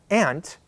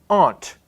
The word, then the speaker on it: aunt: or my mother's sister my Aunt I pronounce it exactly like I pronounce the insect the ant and that's a lot of people in the United States pronounce it this way but some people pronounce the same word Aunt they just pronounce it differently and that's a certain